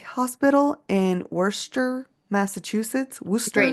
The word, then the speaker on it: Worcester: Great Worcester, name. dude, and Worcestershire. it literally looks like Worcestershire. Worcester.